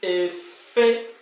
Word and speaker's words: efe: So you have to pronounce it with high tone.